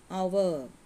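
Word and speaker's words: hour: ഇനിയൊരു ഒരു എക്സാമ്പിൾ നോക്കാം ആൻ അവർ ആൻ അവർ എന്ന് വന്നാലും അവർ എന്ന് വന്നാലും ഇവിടെ എന്തായിരിക്കും ചേർക്കേണ്ടത് ആൻ എന്ന ആർട്ടിക്കിൾ ആയിരിക്കണം ചേർക്കേണ്ടത് കാരണം അവിടെ ഉച്ചാരണം വോവൽ സൗണ്ടിലാണ് അടുത്തത് 56 യു ക്യാൻ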